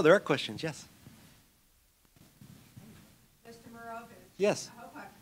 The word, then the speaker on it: Marovich: Marovich. Yes. I hope I pronounced you properly. You actually gave it the Serbian pronunciation, which is the right one.